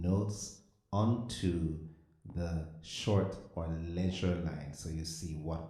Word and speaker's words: ledger: A short line called a leisure, and the D is silent.